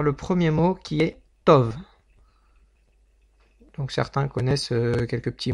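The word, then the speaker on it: טוב: Donc le bet, pourquoi je dis Tov et pas Tob? Parce que la lettre bet, si elle n'a pas de point au milieu, eh bien tout simplement elle se prononce comme un V.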